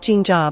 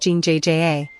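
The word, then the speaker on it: 진짜: The double is a tense, unaspirated J sound. It's not ging jaw, but a sharper, more clipped ging jja.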